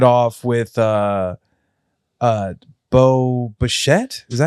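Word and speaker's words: Bichette: And but kicked it off with uh uh Bo Bashette.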